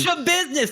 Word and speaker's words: Schabusiness: Schabusiness.